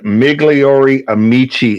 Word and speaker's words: Migliori Amici: this incorrectly uh but we're gonna go with migliori Amici and Company is that correct very good ease so me gliori meegly Ori Amici and then that's okay though what you did was good people will find it easy you say migliori the Americans will yeah I I am